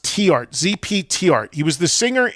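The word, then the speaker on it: Theart: It's actually pronounced T-art is how you pronounce his last name. Most people say The corrected me on this one, so I remember it. It's actually pronounced T-art.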